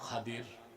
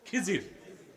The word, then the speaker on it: খাদির: নেককার বান্দা, তার নাম খাদির, যারে আপনারা বলেন খিজির। উচ্চারণটা কি? খাদির, বিফাতহিল খা ওয়া কাসরিদ দাদ, খাদির। তো আমাদের দেশের লোক বলে কি? খিজির। এটা ভুল উচ্চারণ, শুদ্ধ উচ্চারণ কি? খাদির।